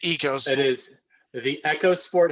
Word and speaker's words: Eos: echos sport EOS sport it's never gonna be echos sport it's EOS it is the echos